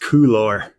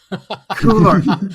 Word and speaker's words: Qlor: Also, it's pronounced Qlor. Qlor.